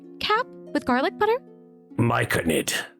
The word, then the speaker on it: myconid: May I have the pan-fried mayonnaise cap with garlic butter? Myconid. It's pronounced myconid.